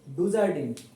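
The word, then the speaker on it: Dujardin: medium student ঠিক আছে এটার উচ্চারণ ফেলিক্স ডুজারে এটা আমি তাও তোমাদের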